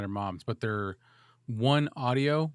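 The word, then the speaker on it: OneOdio: I think she's got them at her mom's, but they're One Audio, but audio is spelt with an O. It's like ODIO. Audio.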